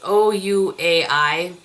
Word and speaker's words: Ouai: It's not Ouai. It's O-U-A-I, Ouai.